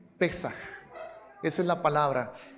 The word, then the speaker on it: Pesaj: pero la palabra es, algunos lo acentúan en la primera sílaba, vamos a hacerlo así, Pesaj.